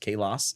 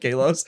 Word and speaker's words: Kalos: which is biblically speaking, I believe it's actually pronounced Kalos. Okay. Um and so we call it a southern Greek pronunciation when we call it Kalos.